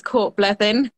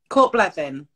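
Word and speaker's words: Cwrt Bleddyn: Well, I'm not Welsh, so it will never be accurate, but it's Cortbleddyn. Cortbleddyn. Cortbleddyn, right. But with a Welsh accent, which I'm not going to attempt.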